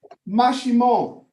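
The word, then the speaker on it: Maximón: Look up Guatemala Mashimon, but you have to spell it with an X.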